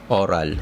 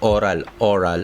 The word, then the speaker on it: aural: tinatawag na aural toilet aural hindi oral A-U-R-A-L AURAL TOILET sa Pilipinas